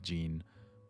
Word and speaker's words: Jean: And I think it's more common to pronounce a name like Jean the way that everyone pronounces it.